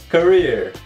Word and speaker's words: career: E os dois E's nessa palavra você pronuncia com som de I, career.